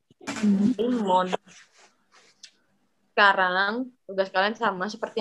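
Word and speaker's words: лимон: L I Stresnya di sini karena huruf kapitalnya di sini. Limon adalah lemon. Limon.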